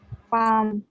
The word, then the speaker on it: palm: Palm. Which letter Yell is? silent letter. Yes, L silent letter.